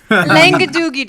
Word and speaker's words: Langadoogie: Perfect. That pronunciation was exactly how he says his name. Langadoogie.